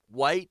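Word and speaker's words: Wight: Well, actually, White is spelled in his name, W-I-G-H-T. So it's not really a Caucasian thing, you know what I mean? But I guess in a way it's meant to sound like it is.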